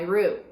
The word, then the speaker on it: roux: Now we're gonna start with the roux.